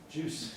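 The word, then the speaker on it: Guice: Juice. That's how I pronounce it.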